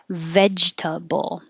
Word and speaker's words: vegetable: all men and 22 vegetable it is tricky to go from the j sound to the t sound because you're stopping the